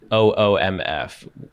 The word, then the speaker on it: OOMF: One of my followers becomes OOMF, and that phonetically spells oomph.